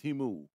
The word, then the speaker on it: Temu: the fastest growing in the US and that's teamu t-e-m-u it's pronounced timu and basically what they do is that they